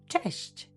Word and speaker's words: cześć: For friends and family, we use the informal hi, which is cześć. Be careful with the pronunciation. It is a soft ch and a soft sh at the end.